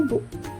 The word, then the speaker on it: 不: Kanci tersebut dibaca fu atau bu.